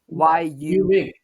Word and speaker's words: 域名: 域名, like Yuming.